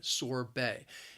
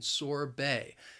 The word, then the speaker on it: sorbet: listen to the pronunciation sorbet it's not pronounced the way it's spelled sorbet that b-e-t is pronounced as bae sorbet let's continue with